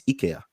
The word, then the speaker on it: IKEA: It's not IKEA, it's IKEA. According to who? According to the Swedes.